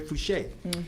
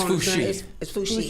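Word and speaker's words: Foushee: is the one with uh Congresswoman Valerie Fucher. Oh yes, how do you pronounce her? It's Fushi. Fushi Fushi.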